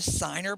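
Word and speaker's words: Ciner: them and be disappointed i do have a signer brooch which i've never heard of it's called it's spelled c-i-n-e-r have you ever heard of that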